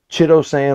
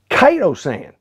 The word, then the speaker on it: chitosan: kiesa saw one ounce and three ounces of chittosan or chitosan however you wanted to pronounce it and mike pointed out to me